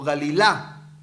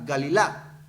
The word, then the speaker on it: Galilá: Galilea, hermano, viene de la palabra Galila o Galilá, porque tiene acento en la, Galilá.